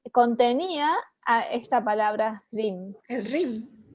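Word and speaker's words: Hrim: RIM. Ajá. Es la sílaba que quita el velo de la ilusión.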